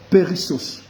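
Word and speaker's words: περισσός: grecque, la racine s'est tirée en disant, la prononciation c'est périssos.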